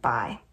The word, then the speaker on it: Bai: In fact, he's the one who insisted I call him Bai. It's pronounced kind of like Bai, B-U-Y, and it means older brother.